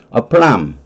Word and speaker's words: aplomb: 에 여러분이 단어 배워보자 어퍼암 b 는 발음이 안 되고요 없는 끝에 b 바로